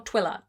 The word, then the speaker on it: Twylla: I don't know if the main character's name is pronounced Twyla or Twilla. Twylla. I would make that Twilla. To me. I'm going to say Twilla. You can argue with me if you want to.